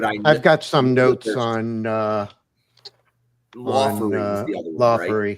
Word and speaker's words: Laughery: Is that how you pronounced it? That's how I said it. Okay, yes. Laughery.